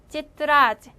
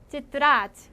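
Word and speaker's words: тетрадь: 일단 발음, 때와 얘가 있으면은 째로 발음된다고 계속 얘기하고 있어요. 찌뜨라지. 찌뜨라지 하면은 공책이고요.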